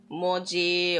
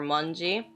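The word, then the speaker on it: 文字: This is pronounced like moji or manji.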